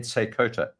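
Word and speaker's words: Seykota: of the trading tribe a guy called Ed seota and I'll spell it for you it's s e y k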